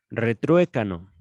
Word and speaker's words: retruécano: Española, diccionario, retrue, mira, retru, acento en la E, retruécano, juego de palabras en que se suele producir una repetición.